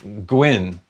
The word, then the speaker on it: Gwyn: Oh, my name is pronounced like it rhymes with win. Oh, it's Welsh. Hi, Welsh. Gwyn.